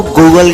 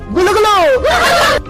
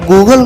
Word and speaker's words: Google: G O O G L E गुलगुलो है एक इस तरह का प्रोनाउंसिएशन भाई, मतलब गूगल गुलगुले बन गया, मतलब